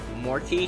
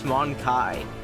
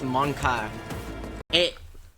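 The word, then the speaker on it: mon-keigh: Oh, she pronounces it weird. Morky, she says? It's Monkai. That's how you pronounce it, actually. It's Monkai.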